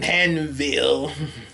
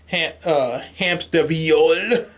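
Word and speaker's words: Hämsterviel: Jacques von Hanville, Hamsterviol. Yeah, he gets really upset when you don't say his name right.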